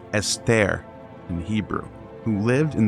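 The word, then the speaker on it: אסתר: Greek all about a Jewish Queen named Esther pronounced Ester in Hebrew who lived in the Persian Court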